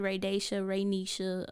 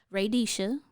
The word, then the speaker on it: Raydesha: y'all say yeah oh I've heard Raa Risha even though there's no n in my name um R like I don't radisha r a y d e s h a and Denise is